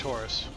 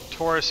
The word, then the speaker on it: Taurus: Also, I refuse to call it a Taurus. I know that's its name. I refuse. Taurus is a car. T-A-U-R-U-S and T-O-R-U-S are pronounced extremely similarly.